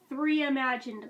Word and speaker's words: McCartney III Imagined: uh mccartney three imagined which it is pronounced the reimagined i didn't understand the word play on first glance when i was taking the notes for this all of a sudden three imagined like a re-imagine oh okay i am